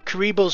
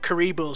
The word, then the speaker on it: Kuribo: And this is actually where we get introduced to Kuribo's shoe however the hell that name is pronounced.